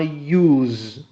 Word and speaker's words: use: say, but now I use. You see the difference now? Use, it is in simple present, and S is pronounced Z.